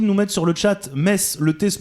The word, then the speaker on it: Metz: c'est gentil de nous mettre sur le chat Metz le thé se prononce pas mais écris-le mezz alors comme ça on dit Metz tu vois c'est pas grave erreur classique du